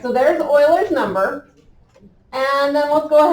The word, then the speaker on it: Euler: Remember, the name is pronounced not like we want to read it. Euler.